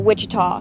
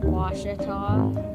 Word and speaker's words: Ouachita: Back in Texas, everybody pronounces it Wichita, but really, it's Ouachita. Washita. Washita. How would you pronounce it? Washita.